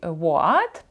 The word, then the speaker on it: What: і ви бачите от в слові What H там не вимовляється і в нас буде